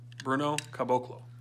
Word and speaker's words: Caboclo: Whoever's watching this, please tell me how to pronounce his name. 3:28 a.m. Caboclo. How do you say Bruno's last name? Caboclo. Bruno Caboclo.